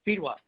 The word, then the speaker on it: Fedewa: Pronounce your last name for us. Fedewa.